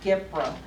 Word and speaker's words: GPRA: The Government Performance and Results Act, which is pronounced GPRA, G-P-R-A, mandated that all federally funded programs be able to establish performance goals and measure results.